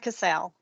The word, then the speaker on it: Cassell: Cassell. Okay, thank you. Yeah, we go with the American pronunciation.